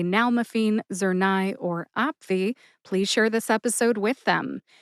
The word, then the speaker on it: nalmefene: If you know someone who would like to learn how to say nal-me-feen, Zurnai, or Opvee, please share this episode with them.